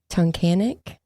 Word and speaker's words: Tunkhannock: On June 7th, 2017, Randy went to work at the Wise Market, which is a supermarket in Tunkhannock, Pennsylvania, I believe is how you say it.